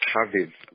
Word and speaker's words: Chaviv: It's Chaviv, pronounced K-A-V-I-V. V-I-V-A is feminine.